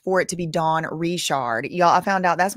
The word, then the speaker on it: Richard: Her last name is spelled like Richard, but you know, um my mom's grandpa on her mom's side, his last name's Richard, and they don't say Richard, they say Richard like that.